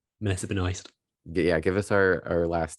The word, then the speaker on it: Benoist: Melissa Benoist.